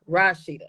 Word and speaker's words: Rashidah: to say y this my name the way you pronounce it is Rashida not Rashida it's Rashid like rock Rashida okay I got and